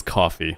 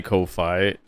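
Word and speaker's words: Ko-fi: I think it is coffee. Like I think it really is coffee because you're right. It It's about giving somebody coffee.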